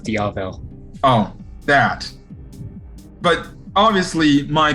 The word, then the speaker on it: Diavel: first little team-up mission they went on is pronounced diavel oh that but obviously my co-host knows what